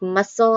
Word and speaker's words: muscle: Look at silent C in words like muscle and signs. That C isn't making a k or a s sound at all. It's not there.